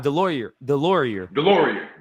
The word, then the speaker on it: Delorier: Delorier.